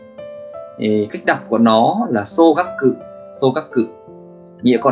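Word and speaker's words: 総額: Cách đọc của nó là xô gắp cự, xô gắp cự, nghĩa của nó tức là tổng, tổng, ví dụ tổng số tiền đấy, tổng số tiền.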